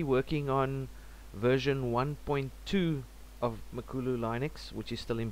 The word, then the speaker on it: Makulu: Linux project and uh makulu pronounced makulu which means uh Big